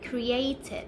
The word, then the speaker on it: created: ก เ สี ย ง เ ป็ น created น ะ ค ะ เ พ ร า